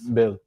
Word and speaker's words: Boehl: Bill. Boehl. Bill. Bill. Bill. It's like Bill. German surname. Oh, it's quite like lazy, like Bill.